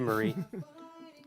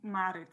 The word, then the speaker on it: Marit: Thank you, Marie. What's her name? fun. Marie. Marie, Italy. Marie, are we saying it right? Marit. It's pronounced Marit. Marit.